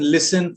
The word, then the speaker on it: listen: T is also silent when it is a part of the letter combination STEN, as in listen, fasten, christen.